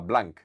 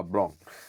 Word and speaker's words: Blanc: Yo no hablo nada de francés, pero él decía cuando llegó a Barcelona le llamaban Blank, decía que él no se llamaba Blank, se llamaba Blon.